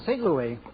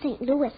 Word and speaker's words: St. Louis: Why, she's the strongest horse in St. Louis. Excuse me, Mr. Costello, but it's pronounced St. Louis.